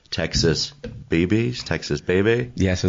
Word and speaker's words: Bebe's: Texas Baby? Yeah, so the original pronunciation will be Texas Baby Quesobirria, but we go off Texas Bebe's, Texas Bebe's, anything that comes out is usually, we're good with it, right?